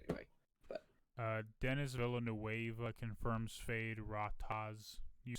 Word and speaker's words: Feyd-Rautha: But Dennis Villanueva confirms Fade Rataz. You say that differently than me, probably. Appearance I in have no. Dune Part 2. Third. Theoden. Is that how you say it? It's FEYD-RAUTHA.